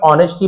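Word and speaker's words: honesty: सराहना करते थे ह ऑनेस्टी एच साइलेंट रहता है केवल ऑनेस्टी पढ़ते हैं लेकिन एच को लिखा लिखा जाता है सन लेटर है एंड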